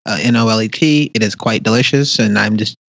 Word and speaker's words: Nolet: I am currently sipping on my favorite gin, and I believe it's pronounced Nolt, but other people will probably see it as Nolet, Nolet.